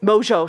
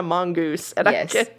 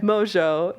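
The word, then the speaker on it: Mongeau: people call her Tana Mongoose yeah because her name her last name is spelled in a way that's not phonetically how it's pronounced yeah Mojo thank you but those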